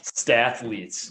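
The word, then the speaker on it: Stathletes: curious with stat stetes is that how it's pronounced stetes yeah stetes it's like mathletes for stats um so one how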